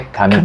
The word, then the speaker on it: kamikaze: Para começar é kamikaze. A pronúncia original é kamikaze, Kamikaze. em japonês, tá bom.